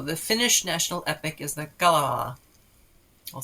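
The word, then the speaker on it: Kalevala: carswells john asked for uh speak pipe on pronunciation for a couple of things so here we go the finnish national epic is the gala i'll say that again and the hero who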